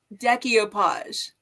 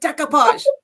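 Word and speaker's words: decoupage: can't resist watching but she says decopage and it drives me insane it's like decapage don't put extra syllable in there um I have I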